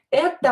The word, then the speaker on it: это: Don't forget that when O is not stressed, we are going to pronounce it as a. Это, here э is stressed. Это мои, here и is stressed, so о, this one and this one will be pronounced as a.